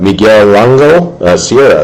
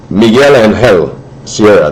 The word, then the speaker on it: Miguel Angel Sierra: We got Miguel Lango Sierra. That's getting tougher and tougher to pronounce some of these guys' names. Miguel Angel Sierra, that's how you say it.